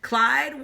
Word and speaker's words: Clyde: Clyde, what a nice name. It rhymes with slide.